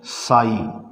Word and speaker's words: psi: ये जो है हमारे भगवान शिव जी वाला जो है त्रिशूल ले लिया और इसका नाम रख दिया है साई। स्पेलिंग है इसकी PSI।